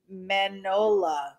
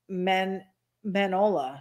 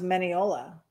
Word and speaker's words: Mineola: The McCoys said, ity-B, Howard is in Manola, Texas, is how you pronounce it. Mineola? Manola. She said Manola. So Manhai? I thought it was Mineola.